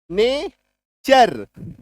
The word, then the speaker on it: nature: NATURE, टी के बाद देखो URE है, नेचर।